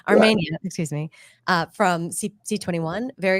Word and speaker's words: Armenia: The same thing, the Italian pronunciation, Armenia, excuse me, from C21.